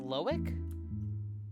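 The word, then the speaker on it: Loïc: It's pronounced Loic.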